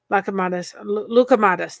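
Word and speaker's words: λουκουμάδες: And if you go, there's something, if I can say it right, lakamadas. I don't know if I said it right. I probably didn't. Lukamadas.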